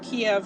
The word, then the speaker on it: Kyiv: It says Ukraine's outgunned forces holding capital of Kyiv for third day.